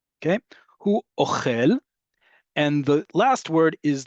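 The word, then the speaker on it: אוכל: Ochel goes up at the end, right? That's that milra we talked about, where the default is on the last syllable.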